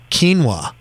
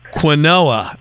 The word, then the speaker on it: quinoa: This is how you say quinoa. It's not quinoa. Quinoa, yeah, exactly.